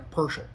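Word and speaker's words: Pöschl: kind of like a persel which would make sense because the O has the little dotty things on there. So it's more like a U sound to us Americans.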